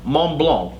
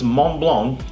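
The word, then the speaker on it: Montblanc: and i knew that i would it is pronounced mont blanc because turns out the mont and the in the the t in the mont and the c and the block they are silent so it's mont blanc turns out it is legend it was the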